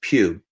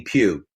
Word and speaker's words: Pough: a brand was because my last name is Pew and the way that it's spelled it's not natural for people to say Pew so I always in introduce myself as Pew no matter what